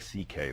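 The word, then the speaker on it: Szekely: My Hungarian grandfather's name was C.K., but it's spelled, it looks like, it's a mess. It's S-Z-E-K-E-L-Y, and it sounds like C.K., though.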